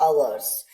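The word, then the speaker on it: our: का देयर्स, अवर का अवर्स। इसे अवर भी कहते हैं, आर भी कहते हैं। ब्रिटिश प्रोनाउंसिएशन में अवर कहते हैं, यूएस प्रोनाउंसिएशन में आर कहते हैं, कहीं कहीं पे ब्रिटेन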